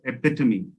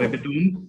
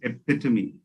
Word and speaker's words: epitome: uh commonly mispronounced word so it's the actual pronunciation is epitome it's not epitome it's epitome so uh if we can go ahead and